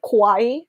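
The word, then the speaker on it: 可愛い: It's so funny though when foreigners say kawaii as in scary.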